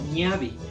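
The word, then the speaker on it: ñawi: la ñ a w y ñauli pero se pronuncia como niavi como que la w o la W se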